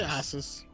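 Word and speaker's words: Ossus: you say that one I say ois okay I've always said osis in my head and I had never heard anybody else say it out loud so uh we'll get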